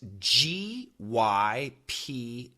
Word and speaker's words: gypsy: GYPSY. In this case, the sound is gypsy. Gypsy. Yeah, it sounds very clear, the S and then an EE.